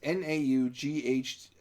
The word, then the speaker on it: Naughticus: The official spelling of Lord Nauticus's name is Naughticus. So basically how you have it spelled. Yeah. But he sometimes changes it just to screw with people. Yeah. Because there's been versions of it where it's spelled like it's nautical Nauticus, and some where he's naughty Nauticus.